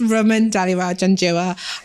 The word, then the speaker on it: Raman Dhaliwal-Janjua: So it's Raman Dhaliwal-Janjua.